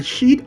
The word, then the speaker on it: sheet: Not short word, okay? If you go for the short word, well, we know what it leads to.